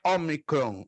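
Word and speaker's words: ômicron: omicron e preste atenção olha o som da letra omicron ela vai soar exatamente como um ó aberto P porta então não se esqueça o omicron sempre vai ter um som semelhante ao do nosso o aberto depois a próxima letra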